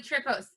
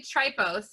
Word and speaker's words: Tripos: so what is the trip post so it was it's actually try post is how it's pronounced and it was um